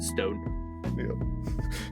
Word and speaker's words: Stoan: a n who knows it looks like stoan but it is pronounced just Stone Y and it's actually just